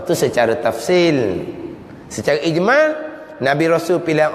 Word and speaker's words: tafsil: pe sa ya lam tafsil bukan tafsir tafsil al-quran tu lain ejaan tu Sin ya ro n ya lam tafsil tafsil ni makna terperincilah